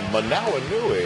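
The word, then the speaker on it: Hoomanawanui: Manawinui, everybody.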